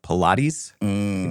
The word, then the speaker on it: Pilate: I was always confused by this name because it's spelled like Pilates, p i l a t e, but it's Pontius Pilate.